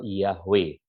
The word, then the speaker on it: Yahweh: itu memberi kesaksian bahwa nama itu dipronounce, dilafal Yahweh. Ini dari The Modern Judaica Encyclopedia volume 7 page 679 ya.